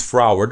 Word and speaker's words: froward: stubbornly contrary and disobedient since froward rhymes with Howard you might picture a